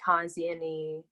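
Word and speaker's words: Hans Jenny: inspired you and their studies in sound, like Hans Sieni, yeah, that's how you say his name.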